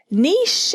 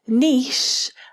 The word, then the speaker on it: niche: Niche is spelt like quiche. We don't say kitsch, do we? We say quiche. And any linguist will tell you that this is pronounced niche and not niche.